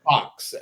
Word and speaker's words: Fuchs: Back Fox, in at Fox. It's actually pronounced Fox. Fox. Okay, Yeah, Fox, but it's Fu. Okay, yeah.